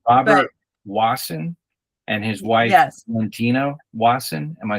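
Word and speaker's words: Valentina Wasson: It is Robert Wasson and his wife, Valentino Wasson.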